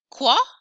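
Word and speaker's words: quoi: nice nasal farm what usually q u makes a k sound k but followed by o i actually makes more of a sound o i makes a wah sound qua what and then ki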